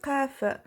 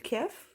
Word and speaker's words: قاف: Donc, harful qaf, l'enfant doit savoir que c'est pas harful kaf. Donc, quand il doit prononcer la lettre, il doit appuyer un peu sur la lettre pour trouver comment prononcer qaf et non pas kaf.